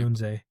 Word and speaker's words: Odunze: How do you say his last name? Odunze? However you say his last name. I say Odunze.